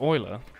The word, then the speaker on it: Euler: have forgotten about him it's pronounced Euler my bad it realized that Euler was pronounced Euler next thing you'll be